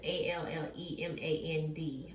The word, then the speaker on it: Allemand: So this one today is going to be on a girl named Gia Allemand. I hope I'm saying it right. It's Allemand, okay?